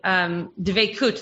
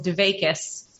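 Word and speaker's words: דבקות: And one of the dvekut, the word that Gabriella used, some of you might know as dvekis, because it's used a little bit more in the Ashkenazi pronunciation.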